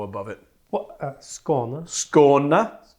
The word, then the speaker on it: Skåne: Skåne. Skåne. It's not Skane. Skåne. It's not Skane, guys. That's also a region or Skåne.